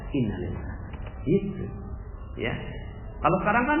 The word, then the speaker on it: innalillah: Padahal innalillah itu dibaca sama dengan alhamdulillah, sama, jiwanya sama dengan alhamdulillah. Anak meninggal dunia, alhamdulillah. Cuma bacanya innalillah.